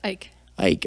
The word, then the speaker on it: Eick: this next episode i'm joined today by ike is that the proper pronunciation by the way i've never asked you yes ike all right i'm joined by a very